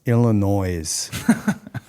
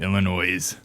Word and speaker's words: Illinois: nothing guy, but you you got to say it right. It's Illinois. It's uh Illinois. Yeah, you know, you are right on that. Illinois. Yeah. Yeah. Illinois annoying. Yeah.